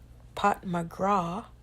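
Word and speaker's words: Pat McGrath: I think I once saw online that Pat McGra, that's how her name is pronounced.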